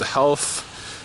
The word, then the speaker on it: Ralph: So chapter 4 is entitled Half and Dave, and the Dave, Ralph, pronounced Half, is Half Gracie, and